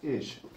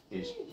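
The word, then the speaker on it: אִישׁ: So, if I look at the way we spell it, believe it or not, this in Hebrew says ish. Ish. Ish. No, not ish. Ish means man.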